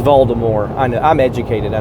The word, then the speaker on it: Voldemort: All right, it's Voldemort. I know. I'm educated. I know it's Voldemort.